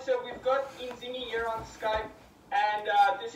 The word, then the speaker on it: Inzinghy: You're actually the first person in a long time that's actually pronounced it correctly, which is amazing. Yeah, Inzinghy.